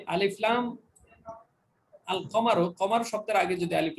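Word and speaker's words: القمر: এখানে লামটা উচ্চারণ হয়েছে, শামসের মধ্যে লাম উচ্চারণ হয়নি, আর শামস, কিন্তু এখানে আল কমারো যুক্ত হওয়াতে উচ্চারণ হলো, তাহলে বোঝা গেল এখানে কফটা হলো হরফে কমারি।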